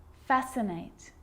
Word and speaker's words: fascinate: Muscle, scissors, fascinate, scene, scenario. So that's the silent C.